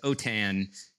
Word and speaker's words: OTAN: if you're from french or spanish then it's otan is how the acronym is pronounced yeah so it's an anagram yeah so